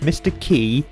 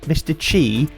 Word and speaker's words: Qi: I've heard Mr. QI pronounced Mr. Key, Mr. Chi, but never Mr. Quee. So now I've got a third pronunciation to confuse me. I'm just going to stick with Mr. Key for consistency's sake.